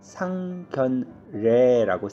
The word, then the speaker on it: 상견례: 우리가 쓸 때는 상견례라고 쓰지만요, 발음할 때는 그냥 상견례로 발음을 합니다.